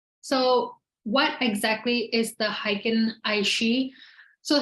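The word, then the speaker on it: Heiken Ashi: now okay um so what exactly is the hiking aishi so how can aishi also spelled with an E sometimes so it sometimes spelled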